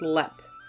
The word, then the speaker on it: Leap: Ireland to discuss haunted LEP castle and yes it is spelled like the word leap but it is pronounced LEP if you are a